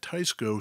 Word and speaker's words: Tesco: We asked Tysco what is the correct pronunciation. And the guys at Tysco said Tysco.